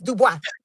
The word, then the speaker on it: Dubois: Caroline Dubois. She like Caroline Dubois fight. Wait, you said Dubois? It's Dubois.